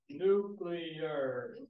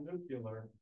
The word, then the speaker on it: nuclear: other thing I want to say is the pronunciation of nuclear so if you can all say after me nuclear nuclear it's not nuclear and we nuclear guys like it that way